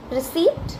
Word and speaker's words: receipt: Receipt.